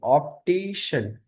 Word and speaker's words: optician: Not the but optician.